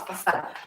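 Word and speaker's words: façade: Oh my gosh, facade. The spelling is Facade. Facade. Okay, very difficult, right? If you pronounce this, it will be facade, but the pronunciation is facade.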